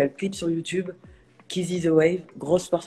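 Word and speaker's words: Keezy: Donc, ça s'écrit K-E-E-Z-Y. Kizzy.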